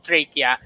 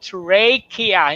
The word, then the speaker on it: trachea: Take note of the pronunciation. Alveoli and trachea. Hindi trachea, ha? It's trachea. It's trachea. Medyo baka kala nila, it's really trachea.